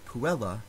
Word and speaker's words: puella: In the last word on the list, the word puella has a short vowel in the second to last syllable, but it is a short vowel followed by two consonants, two L's.